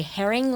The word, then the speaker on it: Herring: J A Y N E and then as my daughter likes to say, Herring like the fish.